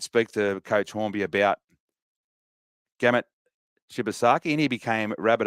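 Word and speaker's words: Gehamat: best work for a lot of people and gamut is how it's pronounced from from Benny horby and I think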